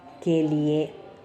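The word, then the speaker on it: को: இது நம்ம தமிழில் கு அப்படின்னு சொல்கிற வேற்றுமை உறுப்பு தான் கோ அப்படின்னு சொல்லணும். ஹிந்தியில் கிட்டத்தட்ட அதே உச்சரிப்பு பாருங்கள். ஸோ உங்களுக்கு நீங்கள் அந்த மாதிரி சொல்கிற பொழுது நீங்கள் அதே கூவை போட்டு சொல்லிக்கலாம். அப்புறமா அதை திருத்திக்கலாம், கோவாக திருத்திக்கலாம்.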